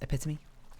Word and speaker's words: epitome: very obvious it's cool it's pronounced epitome and it's much more like epitome sorry says go oh